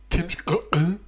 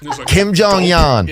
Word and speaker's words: Kim Jong Un: leader of North Korea, Kim Jong-un. Funny. Like, Kim Jong Yan. Yeah. What is it? Kim Jong Un.